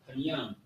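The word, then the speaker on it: פנים: So you got panyam, panyam. And I believe this word is in, you can find this in the prayer Psalms 83, I believe. So the word is panyam, panyam. That's how you say it.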